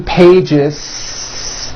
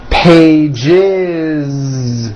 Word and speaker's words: pages: It's not 2 pages, unvoiced, no. It's 2 pages with a voiced Z.